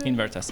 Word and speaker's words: Invertase: Invertase, am I right? Yeah, I pronounced it right, so that's great.